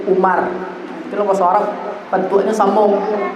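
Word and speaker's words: عمرو: Kalau ada wawnya itu bacanya a. Amrun. Kalau tidak ada wawnya dibaca Umar.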